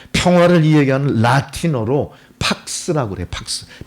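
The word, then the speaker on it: pax: 팍스. P-A-X 이렇게 표시하고 팍스라고 읽어요.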